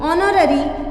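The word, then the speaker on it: honorary: पर her father is ऑनररी मतलब N. Clear हो रही है बात, एच साइलेंट है, ओ का साउंड आएगा तो आप एन का यूज करेंगे।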